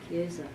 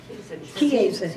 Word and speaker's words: Chiesa: This is the Chiesa Nuevo, I think is how they pronounce it. Chiesa. Huh? Chiesa. Chiesa instead of Chiesa, okay.